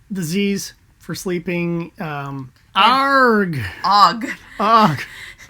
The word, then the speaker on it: AUGH: expletives were, so I would just use OG, and OG is actually spelled AUGH.